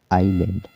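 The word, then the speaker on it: island: इसका मतलब यह है कि किसी भी शब्द में, यदि "s" "l" से पहले आता है, तो "s" मौन रहेगा। उदाहरण के लिए, यहाँ "आइसलैंड" लिखा है। तो, यहाँ "s" "l" से पहले आता है, इसलिए "s" साइलेंट रहेगा। तो, "आइसलैंड" पढ़ने के बजाय, इसे क्या पढ़ा जाना चाहिए? आइसलैंड। सही?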